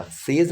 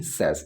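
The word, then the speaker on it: says: में सेस बन गया, सेज नहीं सेस, इसके प्रोनाउंसिएशन के ऊपर भी आपको ध्यान देना होगा, सेज नहीं कहेंगे, इसको कहेंगे हम सेस।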